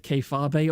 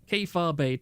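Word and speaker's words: kayfabe: Keifabe, 2 syllables, we've been over this.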